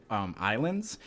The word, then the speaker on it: Ylands: I don't know if you guys have watched me play a new game recently called Islands. It's spelt Wylands, but it's actually pronounced Islands.